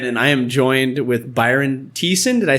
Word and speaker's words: Byron Thiessen: bathroom once again and I am joined with Byron Thiessen did I say it right perfect perfect how